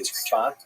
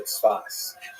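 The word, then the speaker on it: צפת: And that is the incredible explosion of spiritual and literary religious activity that occurred in the northern Israel city of Safed, pronounced in Hebrew Tzfat, or Tzfas.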